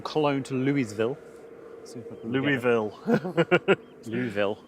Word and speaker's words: Louisville: Louisville. You don't pronounce the S.